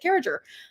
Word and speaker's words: Carriger: I was like, I thought everybody pronounces it Carriger. Turns out, no, uh, no, there's a lot of people who pronounce it Carriger.